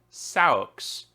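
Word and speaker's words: seax: Cliff it's actually s-e-a-x which is pronounced according to Wikipedia socks uh which is I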